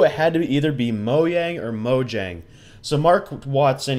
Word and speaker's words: Mojang: right half wrong because it is pronounced moyang just not here in the states and in most countries